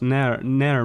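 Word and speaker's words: Nere: Yeah, it's just like Never but without the V. It's Nair Mister.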